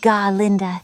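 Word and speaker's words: Glinda: My name is Glenda, pronounced G. Linda.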